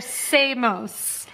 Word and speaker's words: Samos: same as the Amos I know you want to say they're the same as the Amos they're not the same as the Amos they're Samos Samos s m o so it's spelled like Amos but with an S okay okay um so